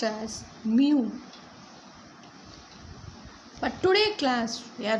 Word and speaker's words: mu: It's pronounced as mu.